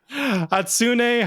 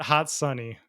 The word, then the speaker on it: Hatsune: first episode of jeopardy how do you say it hatsune hatsune not not hot sunny jeff fair enough fair